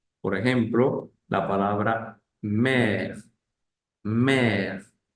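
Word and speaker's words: mère: ángulo eh opuesto eh este acento lo puede llevar otr otras vocales normalmente lo lleva la e y cambia también su sonido por ejemplo la palabra mer mer u mer Que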